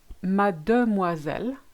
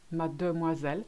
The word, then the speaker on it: mademoiselle: For the next one, mademoiselle, again you've got that silent E at the end, mademoiselle. You can actually say mademoiselle. You actually skip it because it's in the middle of a long word and we just can't be bothered.